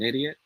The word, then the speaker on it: idiot: bam it should be pronounced as idiot all right so in this sentence man do i sound like an idiot idiot not egypt okay good good good